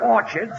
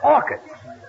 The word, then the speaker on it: orchids: It's not orchards, it's orchids. The ch is pronounced like K.